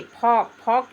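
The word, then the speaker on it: folk: वाक वाक means टहलना एफ ओ एल के फोक means लोक जनता या लोक उसी तरह से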